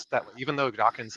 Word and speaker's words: Dawkins: pronounced mispronounced it as dockings but a lot of people do that and so yeah it's important people remember when mentioning Richard Dawkins name it ends just with NS not NGS so just just keep